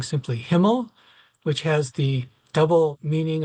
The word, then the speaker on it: HMML: H M M L is always a mouthful to say, and so we have adopted the spelt the pronunciation many of us of saying simply Himmel, which has the double meaning, of course, for German speakers as being the word for heaven.